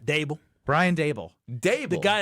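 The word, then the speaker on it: Daboll: From what I can tell, Dayball is sort of an unliked character. So why do we call him Dayball? Because the guy called in called him Dayball. How do you say his name? Dable.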